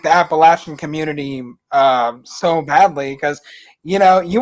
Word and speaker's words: Appalachia: Is it Appalachia or is it Appalachia? Appalachia. Oh, so I pronounced it like a Yankee, I guess.